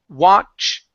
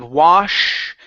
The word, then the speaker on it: watched: Watched. Okay, so you're pronouncing an sh. So instead of wash, it's watch.